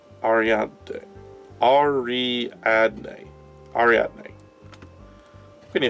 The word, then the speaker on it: Ariadne: And by Ariana, I totally meant to say Ariadne.